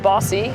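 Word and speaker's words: BAWSI: women's sports initiative and that's pronounced bossy so we are bossy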